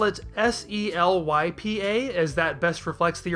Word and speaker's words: Selypa: Pasari doesn't feel the need to use that extended ah sound, and while pasari sounds close enough to parsley, saying Selypar sounds like a bit of a departure from Seripa, so let's just leave it at Selypa.